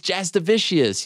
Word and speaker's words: Jasudavicius: Jasmine Jasudavicius. Did I blow that? Is that bad? Did I mess that up? You know, Jasudavicius, but I mean, fucking hell, Jasudavicius. It's Jasudavicius.